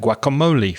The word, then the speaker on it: guacamole: So avocado is borrowed from Spanish, and of course, things you make from avocados like guacamole, for example. So guacamole is pretty much the same with a slight difference in pronunciation.